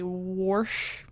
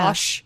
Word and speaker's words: wash: and they would say warsh instead of wash that one pisses me off like there's no R in the word wash what the [ __